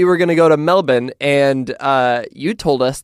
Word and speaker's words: Melbourne: to go to Melbourne which is the Australian way of saying Melbourne um I see what you did there yeah you like that that's that's how we Americans say it Melbourne well it's the it's the correct way of saying it we're just lazy and we shorten everything to Melbourne if your name's Steven